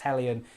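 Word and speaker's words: Heljan: It should be pronounced Hellion. It's a Danish company, so, you know, again,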